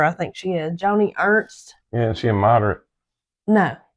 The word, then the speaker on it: Ernst: hers is spelled that way, E R N S T and she says it Ernst. But the waiter was saying Earnest.